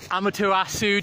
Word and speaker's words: Amaterasu: Oh, Amaterasu, did I pronounce that correctly?